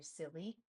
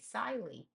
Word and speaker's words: silly: But the Y can't be by itself, which means this I is open because there's nothing closing it in the syllable. So it's going to say siley. In order for the I to make the I sound, the short sound, we have to close it in with an extra L.